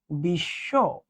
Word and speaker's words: বিশ্ব: তাহলে মানে কি, যে মাঝে বা শেষে যদি ব ফলা থাকে সেটা উচ্চারিত হবে না, যার সঙ্গে থাকবে দুইবার। দেখো তো, তুমি বলো ভাইয়া এটাকে কি উচ্চারণ করো?